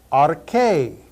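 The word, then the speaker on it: ἀρχή: Arche.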